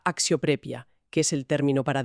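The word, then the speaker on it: αξιοπρέπεια: Y unas páginas más adelante, en la sección de las emociones y el espíritu, nos topamos con axioprepia, pronunciada axioprepia, que es el término para dignidad.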